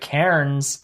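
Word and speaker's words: cairns: sponsor of this show Karen's not Karen's but Karen's I struggle to pronounce that word I think I'm saying it right but it's it's spelled c-a-i-r-n-s care turns um which if you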